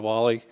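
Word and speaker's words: Whalley: walk in and i i mean hi mr wally my name is i got a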